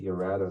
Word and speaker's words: Erato: housing project called the Erato Street Project. Could you spell that for me? ERATO. And that's the way people in New Orleans pronounce that word.